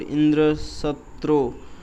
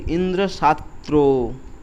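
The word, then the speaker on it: Indraśatru: However, instead of pronouncing the intended word Indra Satro, which means enemy of Indra, Twasha mistakenly said Indra Shatro making the A long so that the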